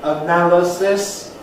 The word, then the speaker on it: analysis: letter zed but anyhow we'll all agree on the placement of the stress the word stress which goes on the noun in analysis but on the an in analyze and similarly for many many